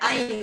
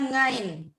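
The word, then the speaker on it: عين: Tapi ada beberapa kayak misalnya ain ya, ain. Huruf ain ya. Nah, ada orang yang nggak bisa mengucapkan ini ain yang disengalkan di hidung. Ada orang Jawa itu nyebutnya ngain.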